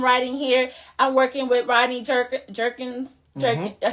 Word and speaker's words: Rodney Jerkins: I'm working with Rodney Jerkins.